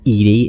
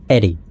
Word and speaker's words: EDI: EDI is the phonetic pronunciation of EDI. That is an acronym for Enhanced Defense Intelligence. It's not Edie, it's Eddie.